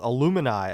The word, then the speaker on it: Illumini: Is it a mix of Illuminati and I? So Illumini, I believe, is what they're going with.